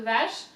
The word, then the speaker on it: vache: Va, V-A, that's really easy, right? Va, sh, C-H is sh.